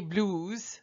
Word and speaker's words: blues: The French say blues, les blues. They say it like they were speaking English.